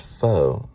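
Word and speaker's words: phở: I thought it was pronounced pho. It's actually pronounced pho. Because I looked at the IPA on PHO Wikipedia. It's a Vietnamese word. Many people pronounce it as pho, but it's actually, I think, pho. Or something similar to that.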